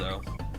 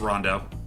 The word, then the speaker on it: Rondo: back I in the thought it day was when pronounced people were like- Roundo. It's Rondo.